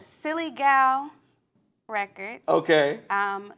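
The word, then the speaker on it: Psilly: is your label called silly gal records okay um silly is spelled p-s-i-l-i it's actually short for psilocybin um yeah so I'm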